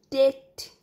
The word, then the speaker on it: debt: That means karza, isme debt, isme b silent rehta hai, so pronounce that debt.